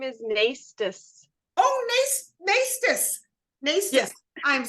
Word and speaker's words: Naistus: My last name is Naistus.